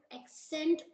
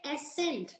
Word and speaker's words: accent: us pronounce the word accent wrongly like we say asent it is not s it is accent it is a accent so before just hitting